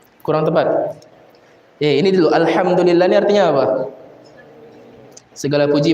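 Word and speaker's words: الحمد لله: Contoh ya, di dalam surah al-Fatihah Allah Taala katakan alhamdulillahi rabbil alamin. Alham du lillah. Ya. Kemudian sebagian orang dan ini relate ya membacanya dengan apa?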